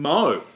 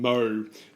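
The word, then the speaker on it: Mø: we were talking about, the O with a dash through it in Mo is a Danish vowel that's hard to pronounce in English. It's similar to the in the French word bleu, like as Okay. in cordon bleu.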